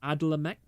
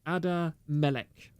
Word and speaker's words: Adamelek: Also, thank you very much for the subscription, Adlamek. No, it's Adamelek.